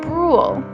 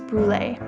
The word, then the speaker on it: Brûlé: And although most pronounce it brûle, the traditional pronunciation is brûlé.